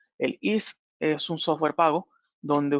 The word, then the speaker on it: EASE: para el diseño de estos dispositivos que se llama el IS. Se escribe EASE, EASE. El IS es un software pago donde ustedes pueden hacer el diseño de los sistemas de audio evacuación.